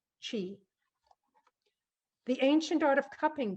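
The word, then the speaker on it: qi: to himalayas something called her key entirely out of whack but you pronounce it chi the ancient art of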